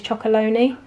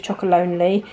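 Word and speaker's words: Chocolonely: and then look again I did not realize it said chocol lonely I always pronounce it Tony's chocol Loney so let me know in the comments if you knew it was chocolate lonely and I'm the only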